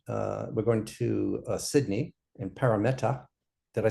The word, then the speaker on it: Parramatta: Parramatta. Parramatta. More of a hard A. Parramatta. Parramatta. And you often, blur the T. So often Australians will pronounce the T as a D.